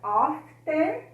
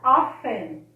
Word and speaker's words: often: Essa palavra aqui, ela pode ser pronunciada often, com o T, ou ela pode ser pronunciada como se o T não existisse. A ortografia permanece, mas você pode pronunciar often. As duas pronúncias estão corretas.